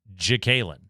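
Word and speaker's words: J'Kaylin: Spell it, please. Capital J apostrophe. Capital K A Y L I N Dobbins. Jalen.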